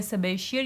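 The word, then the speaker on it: Sabatier: क्योंकि सबेशियर या सबाटियर whatever you pronounce it, इट अप टू यू, दोनों तरीक़ों से इसको जो है प्रोनाउंस कर सकते हैं.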